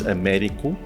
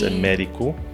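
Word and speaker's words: Américo: If you obviously pronounce it in the English way, it's Americo. Americo. So it's got a little thingy on the E. Oh, yes. So you say eh. So it's Americo.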